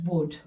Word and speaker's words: would: at that word first wood we take out the medial vowels and we take out the silent letters because we don't say walled so the L is silent and it becomes this